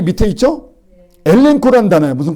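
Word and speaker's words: ἐλέγχω: 그래서 엘레크코 그래야 되는데 그러지 않고 엘렌코 그래. 그래서 엘렌코. 하나는 이응자 발음 나는 거예요.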